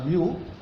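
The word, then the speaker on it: μ: expected project completion time is uh denoted is Mu it is pronounced as Mu summation t i j for critical path for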